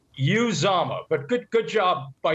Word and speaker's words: Uzomah: know first of all i'm glad you pronounced uzama correctly because so many people screw that up it's you zama but good good job